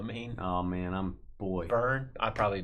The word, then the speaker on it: Byrne: David Brin for president, you know what I mean? Oh man, boy. Byrne. I probably butchered that one.